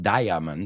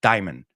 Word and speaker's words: diamond: Otra donde nos comemos una sílaba. No es diamond, it's diamond. Diamond.